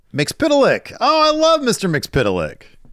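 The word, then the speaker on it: Mxyzptlk: Mix Pitilik.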